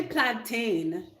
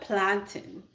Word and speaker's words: plantain: not a plantain yes it's not Americans say plantain this is a plantin I mean I think it really depends on like where you're from how you pronounce it but for the most part Americans say things different from us I'm in Canada by the way they say plantain and Americans say oxtails Canadians say plantin and West Indian people